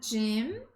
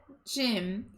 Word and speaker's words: gym: Is there a gym in the hotel? Então, não é gym, não é academy. A palavra é gym.